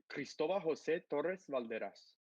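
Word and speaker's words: Cristóbal José Torres Valderas: us because it's just i'm going to give you the very hispanic way it's cristoba jose torres valderas what a kick-ass name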